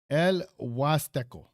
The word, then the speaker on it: El Huasteco: Here's the breakdown. L equals like L in English. Plus was because the H is silent in Spanish. Teco co with the stress on the T. So when you say it smoothly, El Huasteco.